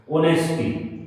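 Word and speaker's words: honesty: simple bravery बहादुरी ठीक है ब्रेरी मीन्स बहादुरी बड़े-बड़े काम करने का साहस बहादुरी मीन्स साहस ऑनेस्टी साइलेंट रहता है इसमें ऑनेस्टी ऑनेस्टी मीन्स ईमानदार ये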